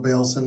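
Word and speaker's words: Baylson: Uh, my name is Bailson. Last name is spelled be as in boy a y l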